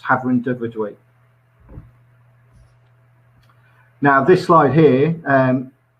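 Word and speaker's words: Hafren Dyfrdwy: have a welsh part of the business and pronounced havren de verduin now this slide here um encapsulates um what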